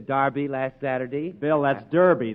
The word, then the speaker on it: Derby: last Saturday bill that's Derby the English say Darby and the Americans say Derby yeah and the losers